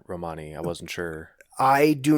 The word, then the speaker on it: Romani: or to Romania and in their language the emphasis is on the first syllable oh okay interesting and